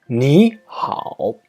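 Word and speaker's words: 你好: plus another third turn the first third tone is pronounced as a second tone for example me how means hello it sounds like me how the first two tone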